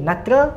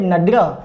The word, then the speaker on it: Nadra: Okey, Natra ataupun nama sebenarnya ejaan dia Nadra, N-A-D-R-A, Nadra Ma'ruf, ataupun nama Belanda dia Bertha Herto atau Herbedina Maria Herto.